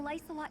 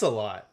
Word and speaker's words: Lolot: I've never seen a lelot used magic before oh now we know how to pronounce that it's lolot I hate it let